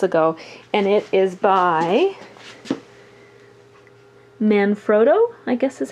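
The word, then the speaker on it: Manfrotto: a couple months ago and it is by man froto I guess is how you pronounce that and if you're looking for the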